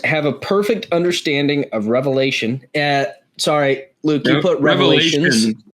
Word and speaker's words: Revelation: The book is called Revelation. Oh yeah. Never mind. You said it right. Yeah. So you don't say Mark's or Matthew's or John's. It is Revelation. It is one revelation.